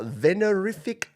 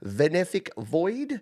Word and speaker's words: Venefic: Up next, we have this track from uh Venerfic Venific Void. I knew I'd stuff up the pronunciation. Venefic.